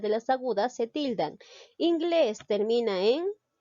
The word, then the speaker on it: inglés: tipo de palabras son ramón lleva la mayor fuerza de voz en la sílaba mont inglés en la sílaba que les menú en uno es